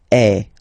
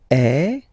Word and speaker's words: est: So il est, or then elle est. So you can notice that even if we write them differently, this est like that and est like that, we pronounce them the same way.